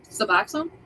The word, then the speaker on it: Suboxone: Suboxone.